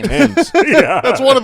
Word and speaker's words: Thames: But You already how is brought that up the pronounced? Thames.